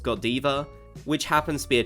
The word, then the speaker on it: Godiva: collaboration with a brand that I believe is pronounced Godiva which happens to be a chocolate brand now